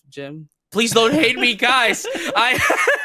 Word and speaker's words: GM: I was just about to mention that where we might go to a war here, colony war, because I pronounce it as GM instead of Jim.